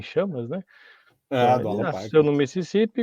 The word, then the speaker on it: Mississippi: Alguns que pronunciam o I como I, ficaria mais Sai Pai, né? Mas não é mais Sai Pai, é Mississippi.